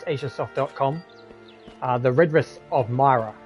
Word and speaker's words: Mira: uh the redress of Myra not mira mira either way I guess you know however you want to pronounce it the game pronounces it Myra so that's how we're